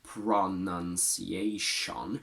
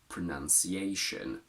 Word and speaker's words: pronunciation: We don't say pronunciation, but we turn those two O's into schwas and we say pronunciation. Most multisyllable words will have weak syllables, usually pronounced as a schwa, but that never changes. Using these two schwas is the only correct way to pronounce this word.